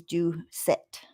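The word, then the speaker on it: Ducat: in the picture is james do set that's how you say it hold on i'm gonna put it back up there so the one on the right is due set and the okay and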